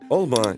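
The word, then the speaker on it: алма: прямо недавно идём дальше в татарском ударении почти всегда падает на последний слог Дада прямо как у французов Олма яблоко причём если к слову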